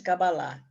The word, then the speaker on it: Cabalá: Cabalá em hebraico, pronuncia-se Cabalá.